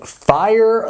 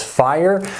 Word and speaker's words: FEIER: are looking at the fire star 100 treadmill and yes that is how they told me to pronounce it it is fire so in just a